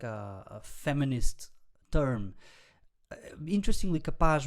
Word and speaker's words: capaz: Interestingly, capaz rhymes with rapaz, which means boy, and there's this expression in Portuguese called Maria Rapaz, which is literally tomboy.